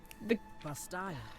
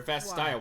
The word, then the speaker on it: Vastaya: He's like, so the Bastaya. what is it? What's it called? What's Oh, they're Vastaya. Why have I been calling them Vashtaya? God, I've been mispronouncing it.